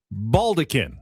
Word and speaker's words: baldachin: Baldecan. Baldecan. It looks like maybe baldachin, but it's pronounced baldecan.